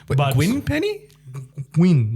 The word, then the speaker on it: Nguyen: Nguyen, like Gwyn. Nguyen Plenty. Yeah, that sounds right. Nguyen Plenty.